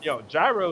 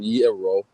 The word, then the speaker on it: gyro: to myself, yo, okay, the Greek, gyro is a Greek food, Middle Eastern. It is Europe. and it's definitely not pronounced gyro, my bro.